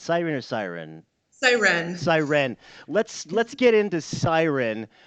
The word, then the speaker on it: Sirenne: Let's I guess let's just start with I always screw up the pronunciation. It's Siren or Siren? Siren.